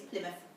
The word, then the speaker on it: Plymouth: It looks like Plymouth, you're right, it's spelled Plymouth, but it's Plymouth.